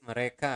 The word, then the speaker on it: mereka: So again, you want to pronounce the letter R clearly. Mereka, not mereka, but mereka makan setiap hari.